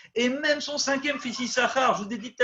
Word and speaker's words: Issachar: vous avez fait attention, le mot Issachar, il s'écrit Yud, Shin Shin, Kaf Resh. Les pros liraient Issachar, hein, Issachar, parce qu'il y a 2 signes. Et pourtant, on lit que Issachar.